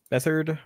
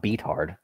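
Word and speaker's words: Beathard: about CJ beard bethard bethard is how you say it not beat hard come on dude bethard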